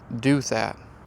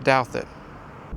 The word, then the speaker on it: Douthat: I almost missed this in the movie because the way they pronounced this in the movie, they said Duthat. Now, this long book contains records from St. Gertrude's Asylum up by Duthat Lake. That's 5 miles north from here. This is pronounced Douthat.